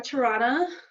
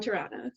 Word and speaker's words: Toronto: of canada that starts with a t and rhymes with piranha so i am from toronto or toronto depending on where you are so yes i am from toronto so okay so it's